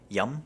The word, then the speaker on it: yum: Yum means good or fine and it's super easy to remember because it's like the English word yum.